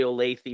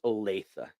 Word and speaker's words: Olathe: So tempting to say Olathe or Lathe, but it is Olathe.